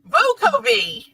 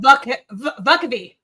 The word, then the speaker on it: Vukovi: So you see, tell me, you see it's spelled as V-O-K, right? V-U-K-O. Yeah. So when it's V-U, vo? Vocavi. It's V-U what? V-U-K-O-V-I. So how do you get vo from V-U?